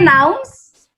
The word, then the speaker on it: nouns: So if because the S of the nouns, it sounds like a Z, right?